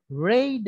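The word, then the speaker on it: read: আছে আচ্ছা আপনি বলেন লাল রঙের ইংলিশ কি রেড হ্যাঁ এটাই হচ্ছে রিডের পাস্ট ফর্মের উচ্চারণ।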